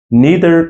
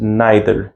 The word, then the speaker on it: neither: So generally, pronunciation of the word in British, the word neither can be pronounced in two different ways. You can say as well, neither and neither, neither and neither. Both are common, both are usually pronounced.